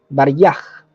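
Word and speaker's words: Варяг: crucero ruso ya el tengo anotada aquí la pronunciación baraj Era ese crucero y un torpedero que estaban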